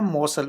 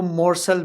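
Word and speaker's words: morsel: British इसका accent है मौसल, उसमें आर जरा साइलेंट हो जाता है, लेकिन अगर आप अमेरिकन में कहेंगे तो मोरसल भी कह सकते हैं, मोरसल।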